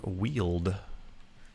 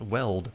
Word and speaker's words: Weald: youtube videos recently it's it's pronounced wheeled not weld like we've all been